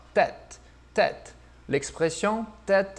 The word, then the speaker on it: tête: Então, como é que vai ficar? Bem aberto. Lembra da expressão tête à tête. Só que no francês um pouquinho diferente a pronúncia. Ó, tête, tête.